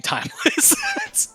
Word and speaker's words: TimexLess: it on that okay so the x is silent timeless i'm still timeless but